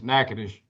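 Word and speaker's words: Natchitoches: Well, it's N- A T C H I T O C H E S is Nadesh.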